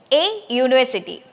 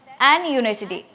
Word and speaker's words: university: That is a university. There we have to check the pronunciation of that word, university.